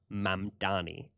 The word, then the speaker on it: Mamdani: And furthermore, it is Mamani. And correcting his pronunciation at the end was a baller way to end that little tirade.